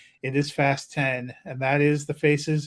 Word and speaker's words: Fast X: I love that the Press agents for the studio sent us a thing it should be pronounced fast 10 and not fast X switch I saw that